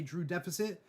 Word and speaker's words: Drew X Deficit: It's because the X is silent, and it's like I can't tell people who are listening to the podcast that your username is Drew Deficit because they're gonna miss the X.